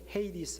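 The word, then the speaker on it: Hades: 가 뭐냐면 하겠습니다 그래서 영어 발음 하신 분들은 헤이 디스 라고 이렇게 발음을 하는데 하베스 자 여러분들 2기 브리오 로서 올 그리고 헬라 우로 하데스 의 의미가 뭘까 여러분들 이것을 문맥을 통해서 보면요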